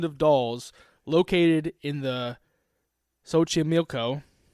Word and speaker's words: Xochimilco: Today we are diving into the island of dolls located in the Sochi Milo. That's how you say it. No way. Sochi Milco. Yeah, you got it.